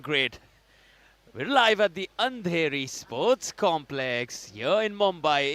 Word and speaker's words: Andheri: Anahiri? Where am I now? It's getting very late at night. Absolutely, it's Andheri. You're getting it Andheri. absolutely right. Dearest Jeanette, you're doing great. We're live at the Andheri Sports Complex here in Mumbai.